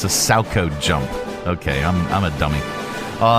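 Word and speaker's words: Salchow: That's not even our pronouncify lady. It's a SACO jump.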